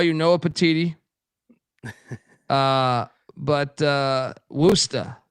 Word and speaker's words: Worcester: How do they pronounce that again? There's an angle here. Worcester, right? Worcester. Yeah. Worcester, Massachusetts.